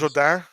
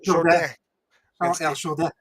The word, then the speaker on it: Jourdain: Can you pronounce it correctly, please? Charles Jourdain. Charles Jourdain.